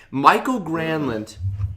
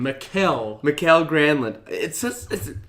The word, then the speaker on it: Mikael Granlund: Mikael Granlund. I know, it's a rough. Welcome to weird. America. It's It's Michael. No. It should be, but Mikael Granlund, welcome to Finland, right?